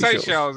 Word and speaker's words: Seychelles: Seychelles, yeah. Seychelles is to pronounce it, but we knew what you meant, mate.